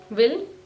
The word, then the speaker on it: vil: जब आप विल बोलते हैं तो उसको वी बोलना है, वी, या विल नहीं बोलना है या वी, या स्केल